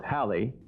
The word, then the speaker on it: Halley: Now Sally, who, incidentally, is proud that her name rhymes with Halley, she lives on an Australian sheep farm.